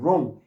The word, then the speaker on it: wrong: 여기도 끝에도 그냥 없는 것처럼 wrong 이렇게 없는 것처럼 wrong 이렇게 발음을 하는 얘기예요.